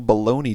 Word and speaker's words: bologna: that's right it's national baloney day pronounced or well pronounced baloney but spelt balogna um and apparently there's